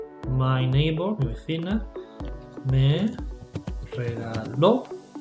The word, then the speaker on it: regaló: Anteayer, the day before yesterday, my neighbor, mi vecina, me regaló. Important, stress on the last syllable. Otherwise you're saying regalo, which means something different.